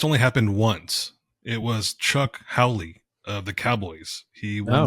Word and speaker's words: Chuck Howley: It was Chuck Howley of the Cowboys. He won the Super Bowl MVP in Charles as a Haley. losing Fuck team. Charles Haley. No, it's not Charles Haley. Chuck Howley.